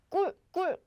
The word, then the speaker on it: 꿀: So it's pronounced as k, 꿀, 까, 끼, 꾸, 깨, 꼬.